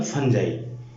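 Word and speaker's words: Fungi: ठीक है, देखो नेक्स्ट है हमारा किंगडम फंजाई। इसको बहुत सारे लोग किंगडम फंगी भी बोलते हैं। ठीक है, तो आप कुछ भी बोल सकते हैं, आप अपना प्रोनाउंसिएशन कैसे भी करें, कोई दिक्कत नहीं है।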